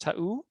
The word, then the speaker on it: Ta'u: If we look at places that have done this with this technical challenge, we're looking at, I think it's pronounced Ta'u, where Solar City installed solar and batteries in 2016.